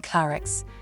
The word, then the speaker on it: Claricce: Tender, not particularly intellectual, but charming Clarix, another variant of the pronunciation of her name, a girl from a wealthy family.